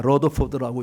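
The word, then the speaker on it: Rutherford: 분인데, 저는 여러분들이 그 저는 루터포드라고 발음하는데 미국에서 온 사람 다 러더포드라고 이야기한다.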